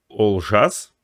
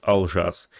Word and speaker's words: Олжас: Правильно говорится и пишется Олжас, но в русском языке уже по привычке ты говоришь Алжас.